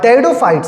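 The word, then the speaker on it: pteridophytes: बट जो हमारे टेरिडोफाइट्स है बेटा पी साइलेंट है।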